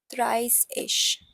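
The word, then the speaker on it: dreißig: This beta sign is double S basically, and thrice-ish is the pronunciation.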